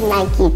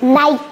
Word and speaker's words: Nike: just like these guys yeah Nike they make Nike tack well but don't pronounce it before you pronounce it all right let's go Cody no problem can you help us pronounce this niky once again Nike once again Nike beautiful Nike don't pronounce it